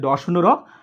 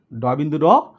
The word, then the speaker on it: ড়: একটি হচ্ছে তারা বলছে ড শূন্য র এবং ঢ শূন্য র। তোমরা শূন্য বলবে না, তোমরা বলবে বিন্দু, ড বিন্দু র, ঢ বিন্দু র।